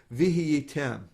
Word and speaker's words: vihiyitem: question here is whether you pronounce the hey at all, right? So I would pronounce it vihiyitem. Vihiyitem. So you're sort of giving a double syllable there in the middle, V kind of? So I'll do it by syllable. Vihiyitem. Okay. Vihiyitem. But the hey is very Soft. soft, and fast.